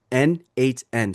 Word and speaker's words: n8n: It's pronounced NHN.